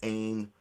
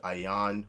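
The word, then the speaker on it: עין: Now, in terms of the Ayan character, some people pronounce it Ain, right? We would pronounce it Ayan, right?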